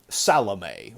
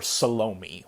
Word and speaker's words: Salome: himself with the which Salome or salami whichever pronunciation you prefer now of of Salome